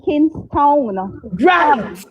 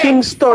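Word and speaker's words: Kingstown: Porter Spain that not Kingston but King. Thank you. Town town. It is spelled K I N G S T O W N. Thank you guys. Not Kingston. Kingtown to od yes on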